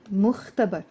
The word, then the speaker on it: المختبر: Here, على المختبر. Notice here, على. I am pronouncing the L, because here the letter mim is not a sun letter. We call it a moon letter.